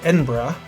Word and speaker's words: Edinburgh: Edinburgh is pronounced Edinburgh.